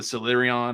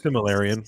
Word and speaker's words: Silmarillion: I never say it right, but the book in the Silurion, or however they say it, like Silmarillion.